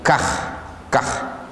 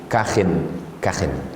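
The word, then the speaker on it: كخ: mau lanjut kakin yuqalu biiskanil k cara membacanya biiskanil k khnya sukun kah kah wauqalu bikasriha ada juga pendapat mengatakan dibaca kasrah Ma tanwin dibaca dengan tanwin Kahin Kahin Apa maknanya kalimatu zajrin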